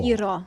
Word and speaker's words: gyro: Gyro.